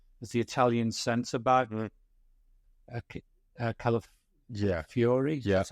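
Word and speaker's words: Calafiori: him is a as the Italian Center back Cal Fury that's how it's pronounced yeah left sided young good on the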